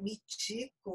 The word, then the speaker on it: Michiko: Então, o meu nome é Michiko, mas se escreve Michiko, porque a transcrição é por meio... Eu sou japonesa, vim para cá com 8 anos, então, quando se faz a transcrição, transcreve-se CHI com o som de ti.